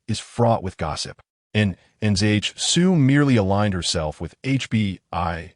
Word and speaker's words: Nan Zhisui: The name of that female was Nan Zhisui, 3 syllables long.